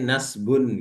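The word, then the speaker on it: نصب: Tapi kalau bacanya rafa nasab jer itu pakai bahasa Indonesia yang biasa disebutkan aslinya bukan rafa aslinya ya raf'un gitu ya. Rof'un aslinya bukan nasab sebenarnya nasbun gitu.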